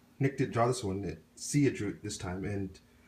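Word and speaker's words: Siya: met up with Sia and her name is pronounced Sia, not Saya, like a lot of people do. And I did that mistake too of pronouncing it Saya at first, but she went ahead and told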